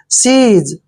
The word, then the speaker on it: seize: देखिए एस का उच्चारण श करेंगे और EI का उच्चारण ई की मात्रा करेंगे। और जेड को जय पढ़ना है और ई का उच्चारण हम नहीं करेंगे, क्योंकि लास्ट में जब भी ई आता है तो ई को हम नहीं पढ़ते हैं।